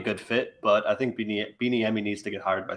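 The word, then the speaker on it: Bieniemy: not be a good fit but i think beanie emmy needs to get hired by somebody i agree but if you're the enemy you're sorry i that's how you say his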